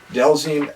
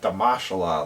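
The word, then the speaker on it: Dhalsim: Blanca, Delzine. You know, it's funny looking back and like thinking back to these memories because the pronunciations are very easy now. But like Delzine, we would call him like Damashala.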